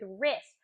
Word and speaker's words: wrist: We talked about the phonics rule of the silent W with wrist, of the silent K with knock.